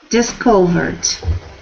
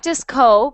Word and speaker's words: discovered: so disc discovered discovered discovered not disco but dis discovered discovered good good discovered perfect